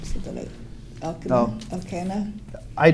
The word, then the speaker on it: Elkanah: Okay, how do you pronounce his name? So that Elkanah? I say Elkanah and Hannah.